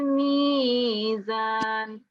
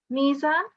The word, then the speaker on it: ميزان: That's the ya madda. So it will be Allah tatghaw fil mizan. 2 seconds there, and then we have on the next words again mizan.